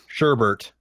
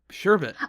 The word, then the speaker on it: sherbet: realtor I'm sure Boston sherbert nope sherbet I think I've never heard anyone pronounce it sherbet like oh oh and